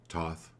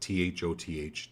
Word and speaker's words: Thoth: Thoth is how you pronounce it, Thoth, Thoth.